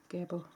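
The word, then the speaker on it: Gebo: That's gaboo. Gab. Gable. That's a Norwegian Norwegian way of pronouncing it, by the way, because I'm Norwegian.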